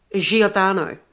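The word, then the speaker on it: Giordano: ano um Bruno now and I'm not pronouncing that correctly it's jodano Bruno he was an actual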